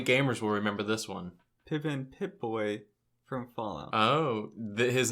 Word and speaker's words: Pippin: you know my game Pippin is a Pippin or piping it might be Pippin no medias like Scotty hey I guess it rhymes with ribbon oh that's my game